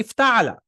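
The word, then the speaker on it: افتعل: the version of it you'll say iftala you'll not say no if Allah whatever it's not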